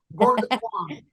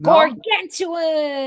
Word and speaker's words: Gargantuan: Am I going to pronounce this right? Gorgontron? Gorgontron. No? Gargantuan.